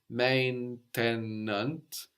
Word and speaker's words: maintenant: Now in French is maintenant or maintenant. So you can hear both. You can hear that E in the middle of maintenant getting totally disappeared, like in maintenant.